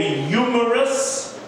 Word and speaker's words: humerus: So, the longest bone in the arm is called the humerus. Humerus, spelled with an H.